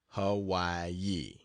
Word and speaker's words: Hawaii: and then to the island of Hawaii pronounced Hawaii to see the greatest active